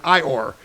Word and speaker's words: EOIR: The tool for this deception was the DOJ's Executive Office for Immigration Review, EOIR, pronounced like Winnie the Pooh's donkey friend, IOR, which oversees deportation cases.